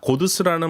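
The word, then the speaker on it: قدس: 고두스라는 말은 아랍어 꾸두스의 페르시아어 발음으로 예루살렘이라는 뜻입니다.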